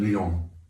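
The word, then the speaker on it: Lyon: its founder David Gordon Leon Leon Leon it's spelled like the French city David Gordon lion was an avid Arch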